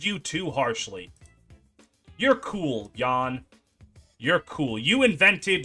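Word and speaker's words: Jahn: the do you spell Jon yan yan it's JN someone told me in the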